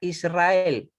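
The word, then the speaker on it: ישראל: Eso no quiere decir que se pronuncie así, se pronuncia Israel, Israel, ¿ya?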